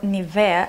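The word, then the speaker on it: Nivea: not get breakouts something from nevere or NAVAIR as it pronounced in Germany and in the rest of non-english speaking world it is an anti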